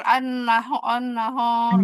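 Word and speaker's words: النهار: An-naha, an-nahar. Gitu ya harusnya. Nah, ya bersiap-siap untuk motul an-nahor gitu. An-nahor gitu. Jadi ho-nya tebal.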